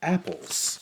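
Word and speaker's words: æppel: in Old English have apples an apple pronounced the same in Old English as in Modern English wasn't apple or fruit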